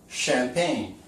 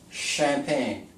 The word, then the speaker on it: champagne: The next one is actually going to be the French way of pronouncing it.